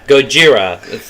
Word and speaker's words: Gojira: if you will uh Goa goira Gojira it's Japanese guys we're going to butcher